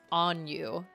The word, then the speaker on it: Anju: I was like, so is it Anju or is it Anju? And he just laughed at me and he was like, it's Anyu. Oh, what?